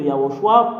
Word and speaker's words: Yahushua: Et le Père Yahva a donné une ordre que vous devriez prononcer le nom de Yahushua pour porter le salut.